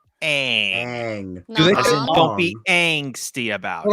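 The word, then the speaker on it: Aang: And just so everybody knows, it is pronounced ang movie creators ang.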